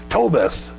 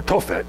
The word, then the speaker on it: Tophet: the fire of moloch now tobas or tophet actually is how it's pronounced actually means hearth of